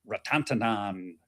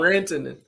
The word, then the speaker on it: Rantanen: McDavid at 115, Mikko Ratantanan at plus 150. No. I know I butchered that name. I know. Nope. Rantanen. Not today.